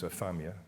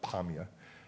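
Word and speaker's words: Apamea: The place that we were shown earlier by Tim was Afamia, that's how the Arabs pronounce it, but Apamia, and that's regime-controlled.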